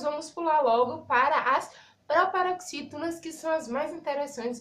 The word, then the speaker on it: proparoxítona: Então, uma coisa bem interessante é porque as proparoxítonas é um exemplo. A palavra proparoxítona é uma palavra proparoxítona. Entendeu? Ó, proparoxítona. A sílaba tônica da palavra é a antepenúltima.